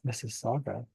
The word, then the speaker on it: Mississauga: Did I misspell that? Oh, thought it was Mississippi. It's Missaga. By the way, it's tied to it's tied to my south node.